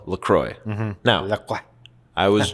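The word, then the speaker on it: LaCroix: you don't know is actually you're supposed to pronounce It Lacrosse because it's from Lacrosse Wisconsin and they're like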